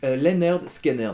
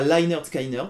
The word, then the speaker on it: Lynyrd Skynyrd: sorti sur leur premier album qui s'appelait d'ailleurs pronounced leer skiner c'estàdire qu'ils ont mis comment il fallait prononcer